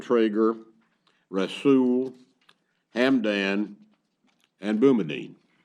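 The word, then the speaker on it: Boumediene: rasool ham Dan and boomerene God says bemidion I say boomerene the first lawyer that pronounced it in front of me said that's the one I'm stuck with uh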